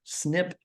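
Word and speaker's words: SNP: that single nucleotide polymorphism snip is how people pronounce it a single snip occurs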